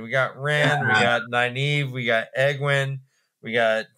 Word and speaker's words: Nynaeve: my head around, all the other Egwene and Nynaeve and what's going on? Wait, how do you say that? Try again. I want to hear that again. No, okay, no, it's okay. Nynaeve.